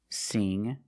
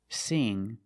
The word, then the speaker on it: sing: So when you see words like wing, sing, and bring, you see the combination of ing, you know it's a long E sound like green beans.